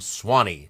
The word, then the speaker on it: Swanee: Originally, it was going to be the Petey River in Florida, but then he settled on, there's a river, S-U-W-A-N-E-E, 3 syllables, Suwannee, became Swanee, 2 syllables.